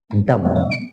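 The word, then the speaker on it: dumb: है next word है डम डम में भी भी साइलेंट रहता है डम इसको ड म बोलेंगे नेक्स्ट थ वर्ड है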